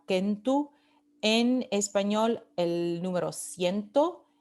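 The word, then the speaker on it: centum: En latín kentu, esto se pronunciaba kentu, en español el número ciento, en italiano cento, en francés cent y en inglés cent.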